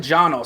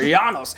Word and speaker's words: Janos: happy with somebody like janus i'm sorry i said jono so miss pronunciation there janos because this is one